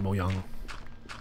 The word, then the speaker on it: Mojang: that they made of I know it's pronounced miyano but I've never bothered to